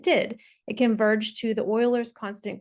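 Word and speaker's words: Euler: the same problem uh we do call it Oilers it's spelled e l e r but Oilers constant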